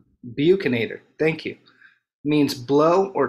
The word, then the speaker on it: buccinator: There are muscles called buccinar muscles, and the translation of, I don't know how to pronounce that. Buccinator. Buccinator, thank you.